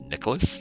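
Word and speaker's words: Nikalos: version of Santa Claus his name is Nicholas which is spelled n-i-k-a-l-o-s the main brigand who is up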